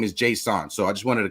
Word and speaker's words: Jasson: He pronounces his name Jasson, right? So respectfully, if he pronounces his name Jasson, I'm going to pronounce it that way.